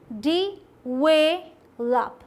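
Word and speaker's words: develop: सही क्या है, डी, ठीक, डेवलप, डेवलप। स्ट्रेस कहाँ देना है, ध्यान दीजिए यहाँ पे, ये नहीं कि डेवलप बोल दें, आप बोलिए डेवलप, डेवलप, वेलप, ठीक, डेवलप।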